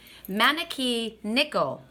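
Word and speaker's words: 招き猫: frog it's actually called I looked this up cuz like I knew I wouldn't be able to pronounce the correct name and it's called mana key nickel okay so it's a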